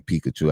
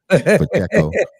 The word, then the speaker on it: Pacheco: Y'all running back, how you say his name, Pikachu. I can't even pronounce it. Check. Pacheco.